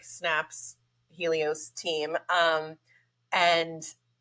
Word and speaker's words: Helios: Is it pronounced Helios?